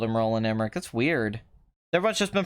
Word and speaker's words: Roland Emmerich: __ ] extract exposition roland emmerich is pronounced with the chat the end and nada que roland emmerich I'm